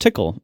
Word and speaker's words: TCL: All these years, I figured it was pronounced tickle. What a waste. I mean, you can pronounce it that way, I guess.